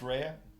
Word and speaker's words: Rhea: It is pronounced Rhea. Rhea.